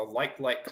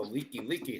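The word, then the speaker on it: Likelike: you're new to Hawaii you say it's the light like highway but it's actually pronounced the Leaky leaky Highway yes yes you remember that right a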